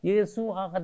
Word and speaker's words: 예수: 근데 이렇게 헬라어식으로 좀 바뀌고 뭐 이렇게 하다가 보니까 여호수아가 예수아가 돼가지고 예수아가 예수가 된 거야. 그 예수라는 이름은 사실은 신약의 이름, 아들을 낳으리니 이름을 예수로 하라. 이게 헬라식 발음입니다. 그러면 예수라는 이름의 히브리식 발음은 여호수아예요.